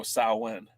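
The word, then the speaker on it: Samhain: Yeah, look, organically, I say Sam Hain. But because I don't want to upset the Goths, I go Salwin.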